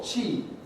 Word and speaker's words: qi: And how do we pronounce this word? Tea. I forget the tone. It's tone 4. Qi.